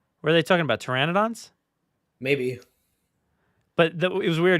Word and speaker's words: pteranodon: So I have the subtitles on, and it said the P is silent. Were they talking about pteranodons?